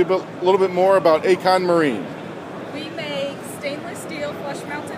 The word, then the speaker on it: Accon Marine: Accon Marine, I pronounced it correct.